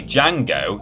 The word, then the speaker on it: Django: in your hand and its sequel solar boy django the d is silent reviewed well both in the east and